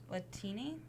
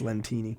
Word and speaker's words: Lentini: Latini? Is that how you say it? Latini? Jen Latini. I think it's Lentini. Lentini. Makes me think of like lentils.